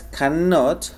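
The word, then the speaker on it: cannot: pronunciarla Ok perfecto bien la forma larga es canot haciendo énfasis en el sonido de la n canot y en esta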